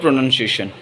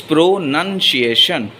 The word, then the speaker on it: pronunciation: People often mispronounce the word pronunciation. It is pronunciation, not pronunciation. So, and also they make the spelling mistake as well.